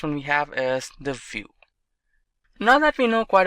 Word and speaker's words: Vue: complete web application solution vue.js is commonly referred to as View and pronounced as vuejs